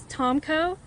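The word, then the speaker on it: Tomko: My name is Lieutenant Colonel Tomco. That's spelled. Last name is Tommco.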